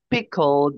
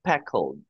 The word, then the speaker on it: pickled: So instead of saying picked, they will also say peck. Oh, And okay. instead of saying pickled, they will say peckled.